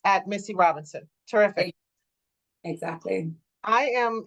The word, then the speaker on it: Myssi: so it's just my name my first name is spelled Missy M Y SSI last name r o b